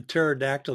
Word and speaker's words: pterodactyl: can't you hear a pterodactyl going to the bathroom because the p is silent what's red and bad